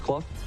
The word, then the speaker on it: Clough: the number three spot clough c-l-o-u-g-h although it's pronounced club fupani fifth malcolm is